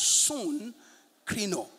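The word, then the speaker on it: συγκρίνω: son crino in greek s-u-g-k-r-i-n-o pronounce soon krino son krino it means that you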